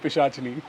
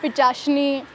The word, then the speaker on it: Pishachini: Visa that block of my life is called pishajini my friends would rip me a new